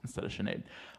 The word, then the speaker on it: Sinead: my friend Sinead because if we pronounced her name the way it's spelt we would just say synod synod yeah yeah Sinead but you know that's